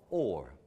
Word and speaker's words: whore: The word for prostitute, whore, was also pronounced or.